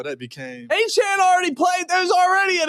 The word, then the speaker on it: Etienne: Achan.